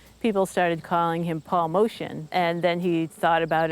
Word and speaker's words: Motian: that we met him called himself paul motion and before it was mortian and then it was motion again so the family name is modi and that's how it's been pronounced paul it was all armenian and both his mother